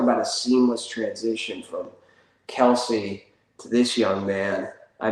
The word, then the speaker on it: Kelce: So I guess it's not Kelsey. I guess it's pronounced Kels.